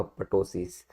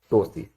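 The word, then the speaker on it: ptosis: That is अ टोसिस, वी कैन नॉट से अ पटोसिस, ठीक है, because P is silent, we will pronounce it एज अ टोसिस।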